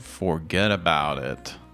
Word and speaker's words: Forghedaboutit: It's a pizza place called Forget About It. And it's spelled like that too. Forget About It. Usually it's Forget About It. It's spelled Forghedaboutit.